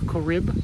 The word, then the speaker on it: Corrib: It says Loch Corrib, I think, is how it's pronounced. Okay. Like Corrib? Corrib. Corrib. C-O-R-R-I-B. It doesn't look...